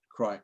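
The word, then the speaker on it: Creich: And up here is a parish in Sutherlandshire called Asint, and over here is another parish called Creek, or that's how I'm going to pronounce it, Crike maybe.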